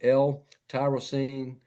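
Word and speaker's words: L-tyrosine: Amino acids like L tyrosine. I might be pronouncing that wrong.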